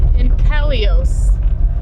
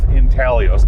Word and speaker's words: intaglio: again int intalio intalio it has a g but the g is silent gotcha okay the g